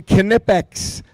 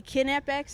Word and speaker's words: Knipex: Uh proud to bring on we've got Annie and Audrey who are with Team Knipex and I'm pronouncing it correctly which is fantastic. Knipex is the right way and uh yeah, you nailed it.